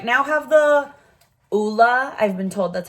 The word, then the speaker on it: Ole: to try these I right now have the Oola I've been told that's how it's pronounced OA henriksson one and I really really